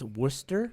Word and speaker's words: Worcester: how to do that, and I still think it's Worcester, I am.